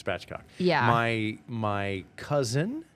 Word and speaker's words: spatchcock: It's pronounced spatchcock.